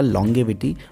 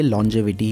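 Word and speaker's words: longevity: इस वर्ड को देखकर लगता है कि इसका करेक्ट प्रोनाउंसिएशन होगा लॉन्गेविटी, but according to Google ये लॉन्जेविटी ही है।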